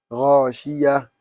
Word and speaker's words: غاشية: But if you write the غاشية, you have ta over there with dhamma. But you are stopping on it like a sukoon. غاشية وجوه يومئذ خاشعة القارعة والعاديات ضبحا.